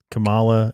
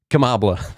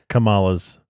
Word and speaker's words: Kamala: about there you go think of comma okay you wouldn't say Camilla it's comma but just say comma